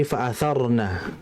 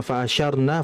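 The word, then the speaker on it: فَأَثَرْنَ: Kemudian fokus pada tadi ada beberapa pengucapan yang harus diperbaiki, yaitu pada tadi fa'atharna, bukan fa'asyarna, fa'asarna, tapi pakai tha, fa'atharna, pakai tha ya.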